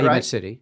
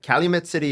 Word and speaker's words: Calumet City: Calumet City. Calumet City, Illinois.